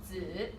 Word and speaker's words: 子: So this is a Chinese word for son, or baby, or child, and it's pronounced 子.